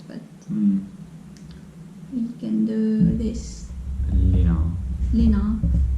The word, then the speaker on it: lina: Lina.